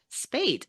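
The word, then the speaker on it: Speight: Three best friend because we are welcoming to the pod uh Spate. Is I'm so sorry. Is that the correct way to pronounce your last name?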